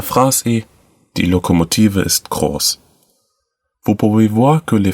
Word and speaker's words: groß: peu du mot, mais on peut bien dire qu'elle est prononcée comme le mot association. La phrase est Die Lokomotive ist groß.